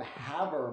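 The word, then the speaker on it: Havre: population of 26 from havor montana spelt like farve doesn't rhyme with farve uh i'm proud to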